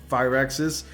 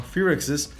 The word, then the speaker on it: Firaxis: So at Gamescom, 2K Games announced that the XCOM developer Firaxis, I'm pronouncing that wrong, Firaxis Games is working on a Marvel tactical RPG.